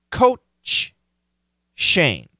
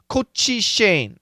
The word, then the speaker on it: Coach Shane: and clearly pronounce both the CH and Sh so many people say Cochise yeah all of those are wrong all of those are